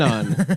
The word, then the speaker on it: anon: Anon.